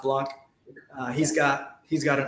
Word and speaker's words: Blank: michael block b-a-b-l-a-n-k uh it's blank but it's pronounced blanc he's got he's got